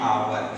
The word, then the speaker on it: hour: देखिए यहाँ लिखा है एग्जांपल में एन आवर। अब आवर की स्पेलिंग पे आप ध्यान देंगे, लिखा है HOUR, ठीक है।